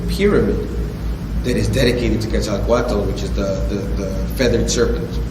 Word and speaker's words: Quetzalcoatl: And what you had talked about was the Christ figure of Quetzalcoatl. Am I pronouncing that right?